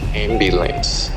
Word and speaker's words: ambulance: Ambulance, en anglais se prononce ambulance. Ambulance. Le U, cette fois-ci, se prononce comme un I, mais un I léger.